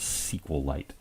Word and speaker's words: SQLite: light by the way sequel light is spelled with only one L so it's almost really SQLite but we generally refer to it as sequel light we're gonna click OK